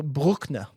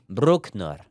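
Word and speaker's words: Brückner: I call him Christian Breückner, but you are able to give me a perfect pronunciation. Christian. In German, it's pronounced Brueckner. Brueckner.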